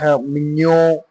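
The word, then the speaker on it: mignon: Mino. This is the masculine one. Mino. Okay. G N is always pronounced near.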